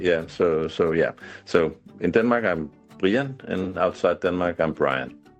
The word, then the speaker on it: Brian: For non-Danes, Brian is spelled Brian, but his name is actually pronounced 'Brienne', so I'm going to call him 'Brienne'. When you're out and about, do people call you 'Brienne' or do they call you Brian?